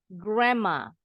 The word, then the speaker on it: grandma: jadi m grma grma ini juga sama d-nya silent n-nya berubah bunyi jadi m gram PA bukan Grandpa